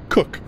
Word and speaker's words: Koch: to greet him captain koch i assume i said it's spelled koch but it's pronounced cook captain cook replied shaking